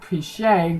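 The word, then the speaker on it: Pichai: while ago Cen Vice pres of Android Sundar piche gave us the first taste of Android L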